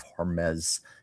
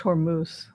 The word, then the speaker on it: Hormuz: Naval destroyers and carrier groups are in the Mediterranean and Gulf of Hormes near Iran today. Yeah, it's it's escalating. It's happening. I think it's pronounced Hormuz.